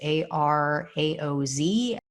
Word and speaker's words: Araoz: The woman's name is Jennifer Araoz or Araoz. I'm not sure exactly how you pronounce it. It's Araoz.